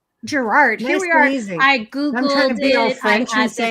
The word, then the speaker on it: Girouard: you pronounce your name gerard gerard i googled the franchise pronunciation she is out really she's in there it's a french name and the original name